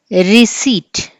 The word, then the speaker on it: receipt: Receipt, P is silent.